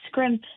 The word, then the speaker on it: Scrimp: Um the thing that makes scrimp special and that's sort of pronounced like shrimp but with a K like the old saying to scrimp and save.